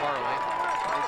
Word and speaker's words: Carly: Uh we may have been pronouncing Ben's last name as Carl in the first half and have since learned that it's Carly strike over the middle.